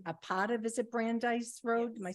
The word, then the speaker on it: Brandeis: I did not realize you renamed a part of, is it Brandeis Road? Am I saying it right? Yeah. Brandeis Road.